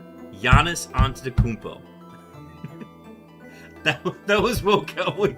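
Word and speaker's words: Antetokounmpo: spelling but antacmpo thank you thank you I'll pronounce it that Hello onto the kmpo. Thank you. Giannis onto the kmpo.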